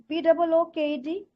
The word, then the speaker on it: booked: So I just found only one word you mispronounce. BOOKED.